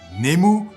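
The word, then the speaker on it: ネーム: Alors, Nemu, qu'il faudra prononcer Nemu pour ne pas passer pour un bouffon, est un terme difficile à définir, mais vous me connaissez, j'aime les défis.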